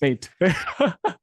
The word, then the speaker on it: Mate: do you pronounce matate matate is the good one but you know when I'm in the UK they call me mate of course mate so mate or mate